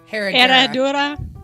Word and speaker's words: Herradura: My shot was this Herradura. How do you say that? Herradura.